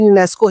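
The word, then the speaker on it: UNESCO: इसकी pronunciation यूनेस्को ही बोला जाता है, इसको जो एब्रिविएशन लिखी है।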